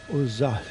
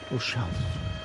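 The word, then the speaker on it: Ozalj: Ozal. The L and the J are almost not pronounced, apparently. Ozal.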